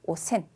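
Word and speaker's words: 汚染: 그리고 오센, 오염이라는 음독으로 읽으시면은 오센. 네, 염자가 센으로 읽는 거 굉장히 특이하죠.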